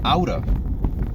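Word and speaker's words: outta: So out of actually becomes outa. O-U-T-T-A. Outa.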